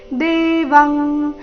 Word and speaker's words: ದೇವಂ: ಮೇಲೆ ಆಘಾತ ಶಿರಸಾ ದೇವಂ ಇಲ್ಲಿ ಅನುಸ್ವಾರದ ಉಚ್ಚಾರಣೆ ಕ ವರ್ಗದ ಅನುನಾಸಿಕದ ರೀತಿ ದೇವಂ ಕೃತಾಂಜಲಿರ ಭಾಷತ ಕೃತಾಂಜಲಿರ ಭಾಷತ